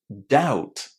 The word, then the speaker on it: doubt: Again, there is a silent letter in this word and it is the letter B. Ladies and gentlemen, we don't pronounce the letter B inside doubt.